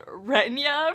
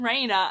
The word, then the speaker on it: Reyna: And then there's good old Renya from Heroes of Olympus. For, I think, 3 books, I read her name as Renya. But then I watched someone's video and they said Reyna.